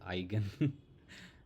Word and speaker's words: eigen: Yeah, it is eigen. I do feel strange the first time I learned the pronunciation of this.